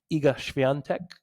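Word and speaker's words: Iga: I feel like that was great pronunciation by the way. Thank you. Sounded good. It takes It doesn't her name looks nothing like that. So you got to learn how to pronounce it and then read it separately.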